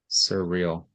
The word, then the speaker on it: surreal: Surreal. Yeah, the emphasis on the last syllable surreal and inongruous which is the second syllable.